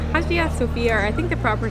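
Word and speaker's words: Hagia Sophia: It's called Hagia Sofia, or I think the proper pronunciation is Hagia Sofia.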